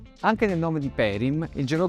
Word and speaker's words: Perim: Tutto insieme si legge Perim, ed è il nome di una persona.